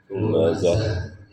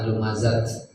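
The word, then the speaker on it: لمزة: disebut ta marbutah marbut kalau waqaf maka dibacanya bunyi ha besarnya ha lumazah bukan lumazat ya kalau tak ternyata muannas ta yang melebar itu seperti tabbat ya.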